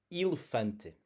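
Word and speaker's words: elefante: When you have it as the first letter, the as the e in the first syllable, it's going to sound like the e in eel. Elephante.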